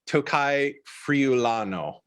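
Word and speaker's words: Tocai Friulano: about like uh and tell me if i pronounce this right tokai friulano is that right yes all right among others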